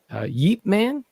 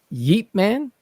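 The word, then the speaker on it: Ip Man: from this war, but it's called Yeep Man. And it's what is it called? Yeep Man. So it's spelled IP. Oh, space okay. MAN. And it's Yeep Man.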